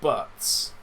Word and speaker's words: Buttes: But notably, Butts is spelt Buttes, so you assume it's someone's surname.